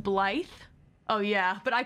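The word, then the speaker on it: Blaidd: Blade is pronounced Blythe.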